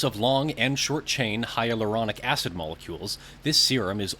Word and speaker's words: hyaluronic: The hydroleonic serum sounds like it makes sense, so I'm going to go with the... I think I mispronounced it. It's hyaluronic. That's what it says. Hyaluronic. Hyaluronic. Okay.